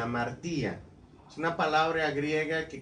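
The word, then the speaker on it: ἁμαρτία: Y la palabra del Señor nos dice que es una palabra que utilizaron en el Nuevo Testamento como amartía, así se pronuncia, amartía.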